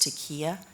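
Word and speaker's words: taqiyya: One of the words is, I think it's pronounced taqiya, Yeah.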